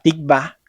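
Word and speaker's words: תקווה: En la palabra tikva, que significa esperanza, la letra Bab se lee como una V.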